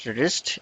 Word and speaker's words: wrist: रिस्ट एक नया word है, इसके अंदर डब्ल्यू साइलेंट है।